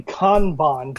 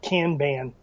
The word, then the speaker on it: Kanban: Well, it's actually Kanban, but for most of us in America, we just call it Kanban.